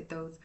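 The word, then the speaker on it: Thoth: um some people say talk some people say thought I've heard it both ways some of y'all are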